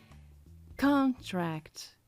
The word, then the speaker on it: contract: E eu sei disso porque eu identifiquei o tracinho vertical que me disse que con se fala mais alto. Contract. A palavra contrair também se escreve assim. Mas a pronúncia será diferente porque a sílaba tônica não será con, será a outra. Contract. O tracinho me avisou que é no tra.